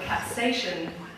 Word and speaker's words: capsaicin: And the way that the peppers were measured was by the amount of capsaicin that was in the peppers, which is what actually makes the peppers spicy.